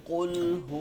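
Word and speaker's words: قُلْ: রাহিম রাহিম রাহিম রাহিম কুলহু আল্লাহু আহাদ কুলহু আল্লাহু আহাদ আচ্ছা বানানটা আমরা কফ লাম পেশ কুল কফের উচ্চারণটা সবসময় ভাই ভারী রাখতে হবে উল উল আচ্ছা উল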